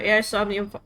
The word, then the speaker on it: Somnium: um this is uh is omnium it's pronounced is omnium files but stupid so I'm just going to say AUM files um you're